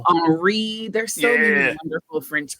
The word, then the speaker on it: Henri: Oh, It's like Henri. There's so many wonderful French pronunciations.